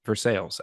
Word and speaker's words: Versailles: Yeah, Hey, we have a town that's spelled like Versailles, but we pronounce it Versailles out here.